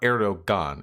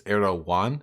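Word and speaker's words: Erdoğan: So to clarify, it's not Erdogan, it's Erdogan. Have I been fucking that up? You pronounce G's like Y's if I recall correctly.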